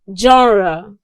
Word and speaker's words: genre: In English language, it is pronounced as genre.